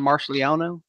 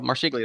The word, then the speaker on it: Marsiglio: a Kodiak, that John Marsigliano, I believe that's how you pronounce it, is making. And I think it was Marsiglio. Was it Marsiglio? Marsiglio. That's right.